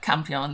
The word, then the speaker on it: Campion: Yep, Campion, there we go. I was trying to make sure I pronounced that right.